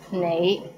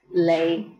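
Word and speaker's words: 你: is the word you the right way to pronounce it is nei but in hong kong many people pronounce it as lay how was it pretty interesting right do you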